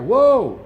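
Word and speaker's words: hü: Whoa, stop it.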